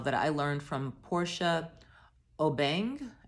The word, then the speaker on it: Obeng: Here are some specific tips about the profile that I learned from Portia Obeng. I know I mispronounced it, Portia. It's Obeng.